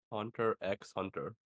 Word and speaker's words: Hunter x Hunter: she has ever created Hunter x Hunter can't forget that not pronounce the X it's why is it